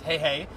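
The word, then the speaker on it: Heihei: to see that also the rooster I think was called hey hey that's how they pronounced it cuz it wasn't sure if it was hehehe or hey the movie obviously clarified its hey hey so funny there was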